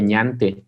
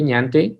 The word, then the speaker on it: ñante: muchas personas nos preguntan, Nante es una palabra en ñañú. Ñañú era el idioma que se hablaba en esta región del país. En realidad se escribe ñante. Le tuvimos que quitar la ñ por cuestiones de internet, que no existe la ñ en el internet.